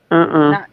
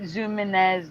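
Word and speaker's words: Zumiez: Like I pronounced it Zooms. It was Zumez. Not Zoominez, not Zoomies.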